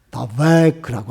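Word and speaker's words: דבק: 이 말은 히브리어로 다베크라고 하는 말을 발음을 하는데 이거는 그냥 아주 탁 달라붙는데 어디서 그 말이 성경에 처음 나오냐면은 창세기 2장 24절에서 그 말씀이 나와요.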